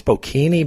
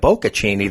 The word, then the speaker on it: bocconcini: Now, I grew up in Italian, and I said, Greg, are you sure it's bocchini? Because you're thinking of bocconcini, the little mozzarella balls with the prosciutto is the Italian ham, and the tomato.